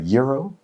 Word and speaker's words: gyro: I love is it a pardon my pronunciation, is it a gyro?